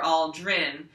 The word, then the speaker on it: Aldrin: back up so edwin all drin and i'm gonna grin and point to my grin like this for all drin because it rhymes with grin okay so in edwin